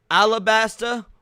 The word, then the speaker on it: Alabasta: of this for me, he could have said Alabasta or Arabasta, but he said Arab. He got he there's two different ways to pronounce it depending on if you're going with the Japanese or the English and he both up.